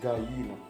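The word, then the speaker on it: gallina: el caballo الحصان، الكونيخو هو الأرنب، الجاتو هو القط، البيرو هو الكلب، لا جاينا دوبلي ال تنطق يا، لا جاينا هي الدجاجة، الجايو هو الديك، البويتو هو الكتكوت، ولا نقولوا له بالدارجة فلوس، بالدارجة الجزائرية.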